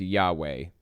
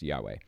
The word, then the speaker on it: Yahweh: pronounced at at all it's supposed to be pronounced Yahweh basically with some accent marks in different places but for the most part it's supposed to be pronounced Yahweh so that's one of